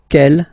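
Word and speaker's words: quel: for the phonetics okay the way to pronounce them Kell masculine form here will be pronounced exactly as the feminine form here K so only one sound okay and then the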